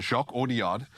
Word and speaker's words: Jacques Audiard: Jacques Audiard is how you say it.